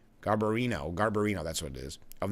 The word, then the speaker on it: Garbarino: And GOP Representative Andrew Garbarino, I'm not pronouncing that right, Garbarino, that's what it is, of New York, and